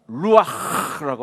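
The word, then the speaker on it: רוח: 원래 히브리말 성령은 그것입니다 루라고 하는말 제가 그 히브리 식으로 발음하면 루 이렇게 발음을 합니다 숨을 부으시는 breath of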